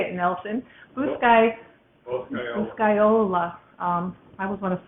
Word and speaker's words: Boscaiola: Boscaiola.